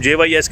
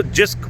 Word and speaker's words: JYSK: था इसको बोलना क्या, तो हम JYSK ही बोली जाते थे. जब तक स्टेज 3 में किसी और कोई थे ना, वो उन्होंने बताया कि इसको जिस्क प्रोनाउंस करते हैं.